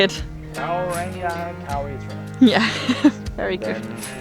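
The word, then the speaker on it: Kauaeranga: Kauranga Kauri Trail.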